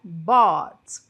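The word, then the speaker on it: bought: aqui junto comigo né olha a pronúncia é bot bot então o verbo by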